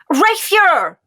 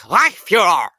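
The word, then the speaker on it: Reichsführer: Reichsfuhrer! Wrong! It's Reichsfuhrer!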